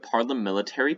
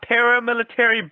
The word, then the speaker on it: parliamentary: Parliamentary procedure, not paramilitary, BJ.